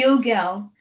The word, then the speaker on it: Gilgal: Gilgal.